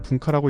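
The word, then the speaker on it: 文化: 중국어로는 원화라고 읽고 일본어로는 분카라고 읽습니다.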